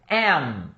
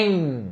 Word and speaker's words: am: Primeiro, am, ok? Am, é um M no final, então não é em, não é em, é M, e tem que fechar a boca.